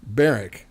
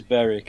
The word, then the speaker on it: North Berwick: Uh North Berwick Bareric, excuse me. All right. Yeah. I'm I'm an American. I have to pronounce the W. It's Baric, right? It is Beric. It is indeed.